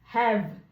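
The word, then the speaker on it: have: তো এটি উচ্চারণ হবে হ্যাভ, কিন্তু ই উচ্চারিত হবে না।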